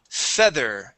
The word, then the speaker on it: feather: So when we pronounce the TH, you want to stick your teeth, or sorry, your tongue between your teeth.